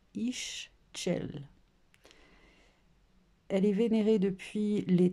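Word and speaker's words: Ixchel: Alors, prononcez Ischel.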